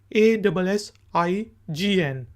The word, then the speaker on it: assign: کے سپیلنگ ہوتے ہیں ASSIGN assign۔ اس میں جی جو ہے سائلنٹ ہے، assign۔ assign کا میننگ ہوتا